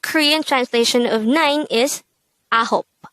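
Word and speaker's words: 아홉: translation of nine is ahop this is pronounced as a two-syllable word the first syllable is a second syllable is hope pronounce it with me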